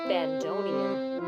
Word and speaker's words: bandoneon: It's actually pronounced bandoneon.